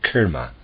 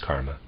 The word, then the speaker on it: karma: very sincere students saying kerma it is Dreadful close parenthesis a readers aside I'm going to use the English uh pronunciation of this Karma end of aside thus